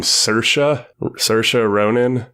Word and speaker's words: Saoirse Ronan: They have Laurie Metcalf as the main character's mother, and I believe you pronounce her name Saoirse Ronan.